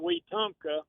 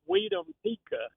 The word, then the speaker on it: Wetumpka: But he gave one night, and it was, instead of Wetumpka, it was Wetumpika.